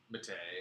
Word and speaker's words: Mattei: or Matai. Matei. Mattei. Oh It man. rhymes with okay. Just like a George Takei.